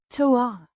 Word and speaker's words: två: Pronounced toa with a short sound and a distinct at the end.